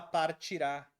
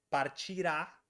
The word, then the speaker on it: partirá: futuro do presente a a sílaba tônica partira é pretérito mais que perfeito partirá é futuro do presente ela até partiria que